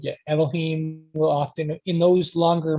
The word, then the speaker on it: Elohim: They pronounce But it as Elohim.